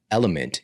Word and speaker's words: LMNT: And element is spelled LMNT.